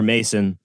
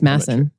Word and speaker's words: Masson: pronounce his name or Mason I think it's Mason two s's massive yeah so pronounced like the Orson Welles wine okay great uh like